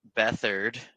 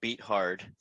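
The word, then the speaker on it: Beathard: And uh we'll see if Bethard, that's how it's pronounced, not beat hard, uh can uh lead our team to victory.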